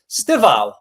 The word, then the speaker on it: Estêvão: So I'm going to go for Chelsea's Estêvão, not Estêvão. He pronounced it Estêvão.